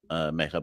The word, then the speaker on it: Megha: It is Megha. It's not Mukunda.